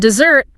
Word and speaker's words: dessert: And dessert. Two s's is that delightful sweet course you enjoy at the end of a meal. Cake. Ah. Yes. Yes. Here the stress is on the second syllable.